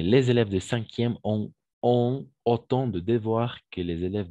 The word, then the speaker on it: autant: Alors, la combinaison des voyelles A et U, on va toujours prononcer comme un O. C'est pourquoi on prononce autant.